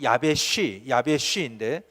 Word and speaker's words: 야베스: 야베스라는 말은 히브리어 발음이 야베쉬인데 이 말의 뜻은 건조한 지역이라는 뜻입니다.